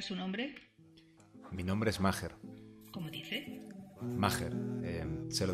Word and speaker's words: Maher: Vale, señor Maher. No, es Maher. La H suena como si fuese una G. Maher. Y con un acento en la, llana. Está bien.